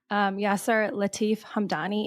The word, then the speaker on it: Yasser Latif Hamdani: marriage, your husband, who is a public figure, Yasser Latif Hamdani. Am I pronouncing his name correct?